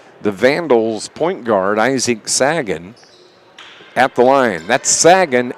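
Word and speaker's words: Sachen: that name yeah and Sagen is not how I would have pronounced it no who would have thought a g sound with ch nobody Isaac hits his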